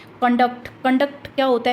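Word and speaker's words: conduct: तो जब ये नाउन के रूप में यूज होता है तो हम फर्स्ट जो सिलेबल है उस पर स्ट्रेस डालेंगे। जैसे प्रोनाउंस करके देखिए, कंडक्ट, कंडक्ट, कन, कन को लंबा खींचेंगे, डक्ट को जल्दी से बोल देंगे, फ्लुएंटली बोल देंगे, कंडक्ट।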